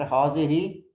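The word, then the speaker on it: هذه: Haza we use for the masculine, and hazihi we use for the feminine. Hazihi. It is pronounced hazihi, but the alif is omitted in writing.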